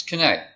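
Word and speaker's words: Quesnay: It's Kinney.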